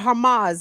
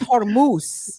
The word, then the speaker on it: Hormuz: Renee, what is the latest coming out of the Strait of Hamas, as Ear Doctor say?